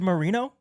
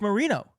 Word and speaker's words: Moreno: Did you know it was Moreno? It's Moreno. I thought it was Moreno. I've been saying it wrong the whole time.